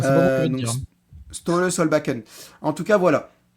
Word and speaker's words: Ståle: Bah en fait, je sais pas en fait, il s'écrit S T A S T A L E, deux A L E. Donc, je sais pas si on dit Ståle, mais je pense qu'on dit Ståle.